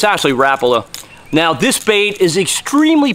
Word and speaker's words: Rapala: A lot of people down in this part of the country pronounce it Rapala, but it's actually Rapala.